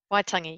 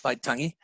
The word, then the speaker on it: Waitangi: The signing of the Treaty of Waitangi, is that how it's pronounced? Waitangi, yes. Waitangi.